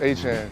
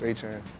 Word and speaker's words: Etienne: Back at home, everyone calls me Travis Etienne. It's like there's different ways to pronounce it, Etienne, Etienne, but everyone back at home calls me Travis Etienne.